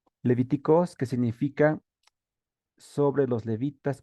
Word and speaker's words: Λευιτικός: con esta palabra leviticoz así como está entre paréntesis así se pronuncia levíticos que significa sobre los